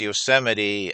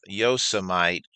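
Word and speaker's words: Yosemite: During his first administration, he pronounced Yoseite as Yosamite, which tells me that he had no idea about one of our nation's most treasured park.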